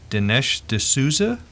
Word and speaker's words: Dinesh D'Souza: you and this is by author if I'm pronouncing this correctly dinesh d'souza that right Keith that's right okay I'm well